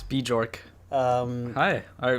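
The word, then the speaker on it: Björk: having a a a bork and good time are you oh my god that's not how you say it it's bee jork um hi all right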